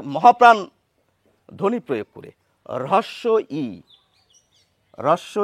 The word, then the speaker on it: হ্রস্ব-ই: যেটি আমরা সকলে জানি তাহলে এই নামের প্রমিত উচ্চারণ বা মান্যচলিত বাংলায় যেটি বলা উচিত সেটি হচ্ছে রস ই যেটি আমরা অনেকে বলি